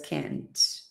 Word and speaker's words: can't: However, when we have a negative sentence, we have to stress can't. We don't pronounce the t, but we know the sentence is in the negative form because we emphasize the structure.